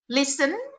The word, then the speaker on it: listen: next lease slime-nya berikutnya listen itu tulisannya listen tapi Tenyata tidak dibaca Saykoji PSP nya tidak